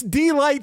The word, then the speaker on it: Deee-Lite: It's Dlight spelled with three E.